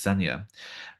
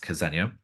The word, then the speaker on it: Xenia: And in the 1930s, Tsar Nicholas II's sister, Grand Duchess Xenia, can also be pronounced Ksenia, was brought to live